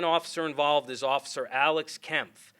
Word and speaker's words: Kempf: Our second officer involved is Officer Alex Kempf, spelled Kempf, and it's pronounced Kempf.